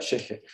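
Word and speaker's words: ch'ixi: Se escribe Chixi, ¿no? Pero se pronuncia Xeje.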